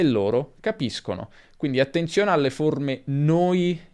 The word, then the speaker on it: capiscono: Se abbiamo o, si pronuncerà sk, quindi capisco, capiscono, ma se abbiamo e o i, abbiamo sh, capisci, capisce. E questo segue le normali regole di pronuncia dell'italiano. Finisco come sconto, per esempio, finisci come sci, finisce come pesce.